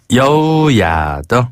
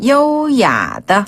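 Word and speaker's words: 优雅地: 여우야더. 한 번 다 여우야더. 어, 참 여우 같은 여우 같다. 예쁜 루트와 있어요. 여우야더. 여우야더. 네. 여기서 여우야는요. 한자 우아하다 할 때의 그 우아를 발음 그대로 중국식으로 여우야라고 해요.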